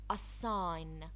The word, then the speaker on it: assign: G is not often pronounced when followed by N. Design. Design. The N followed the G. Assign.